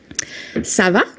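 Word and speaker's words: ça va: So here you can hear that because it's a question the intonation at the end the tone of your voice goes up.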